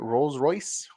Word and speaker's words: Rolls-Royce: or Rolls-Royce and that's how you say it Rolls-Royce Rose Royce yes yeah that's the gift for